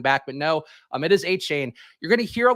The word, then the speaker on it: Achane: Devin Achane, I believe is the way you pronounce that, even though when I just saw the name, I think it would have been Devin Achane.